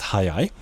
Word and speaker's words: 早い: Okay, the one on the right here, also pronounced hayai, has a section that looks like the kanji for sun.